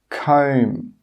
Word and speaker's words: comb: the end of a word, it's normally not pronounced. Some common examples are climb, crumb, tomb, bomb, comb.